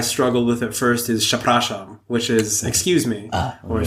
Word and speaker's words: przepraszam: And I was how do you say this? Przepraszam. And then they had a picture of a ship. And it was ship or a sham.